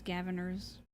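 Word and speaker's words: Gavinners: Even though it's Gaviners. We always pronounce it as Gavineers for some fucking reason. Fuck it. It just sounds cooler.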